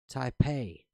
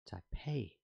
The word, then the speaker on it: Taipei: Taipei, pronounced like day. Taipei, yeah, okay.